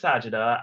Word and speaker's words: Sajidah: having a half an hour long interview with sajida it's agita right that's how you pronounce it yes yes perfect okay great fantastic so we'll be having our interview with sajida and then after we'll do the Q&A but